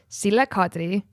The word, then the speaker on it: Sille Kadri: myself, and even because Dan did not know how to pronounce my name. I don't know what the fuck he said. I was just like it was like nothing like my name, and I was like, no, it's Sille Kadri, motherfucking simmer bitch, okay.